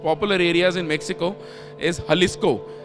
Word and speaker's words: Jalisco: areas in Mexico is Jalisco. But they write it as J because J is silent.